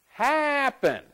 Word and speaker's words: happen: Happen. Happen. Which one sounds better? Happen. Happen. This one, the stress is on the first syllable.